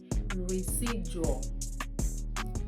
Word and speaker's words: residual: Instead, it is pronounced as education. Education. This is actually called residual.